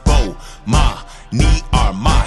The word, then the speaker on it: Bomani Armah: announcements imma say my name so you can pronounce it oh ma me are my shout out to early visors I see who